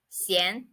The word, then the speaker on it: 闲: door it means not busy and it is pronounced as CN sien not busy and the next word we are